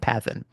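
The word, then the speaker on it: παθεῖν: Greek uh mathan uh is actually uh it rhymes with the verb for suffering pathn. Okay. So matan and pathan.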